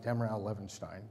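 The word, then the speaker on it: Damerau-Levenshtein: between two product lists Demirel Levenstein is fun to say if you say it right dem raha Levenstein try it later here's the graph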